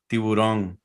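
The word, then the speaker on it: tiburón: Is that how you pronounce it? Yeah, tiburon.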